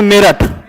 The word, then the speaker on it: मेरठ: ऐसे देश के नाम थे जिसको सही से प्रोनाउंसिएशन नहीं कर पाता था, ठीक है। तो जैसे एक जगह है उत्तर प्रदेश में मेरठ, तो हम तो बोल रहे हैं प्रॉपर मेरठ,